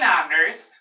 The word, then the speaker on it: honest: An honest, an hour.